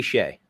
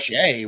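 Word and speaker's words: Skjei: it's Brady Shea. Yep. Shay.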